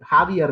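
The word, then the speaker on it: Javier: president of artina is jaier Milas see it's even J is put there but it is should be pronounced as ha jaier miles uh the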